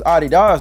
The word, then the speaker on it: Adidas: You know, for years, I thought this dude was just calling the shoes Adidas to be funny. And I used to say it all the time just to be silly, until I realized that was actually the correct way to say the name of the shoes.